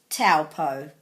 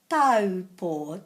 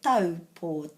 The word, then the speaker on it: Taupō: Most people say Taupō, but the AU in Te Reo Māori comes out as O.